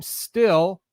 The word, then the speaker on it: Stihl: It says, "How do you pronounce the name Still? Our name is pronounced exactly like the metal steel."